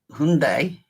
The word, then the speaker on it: Hyundai: And then listening to you guys say it, Hyundai, confused me. But then Tony explained that you guys don't pronounce the Y.